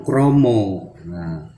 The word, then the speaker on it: krama: diganti dengan so jomblo krama krama tulisan penulisannya itu krama tapi untuk pengucapan itu kromo hendaknya berhati-hati sekali tapi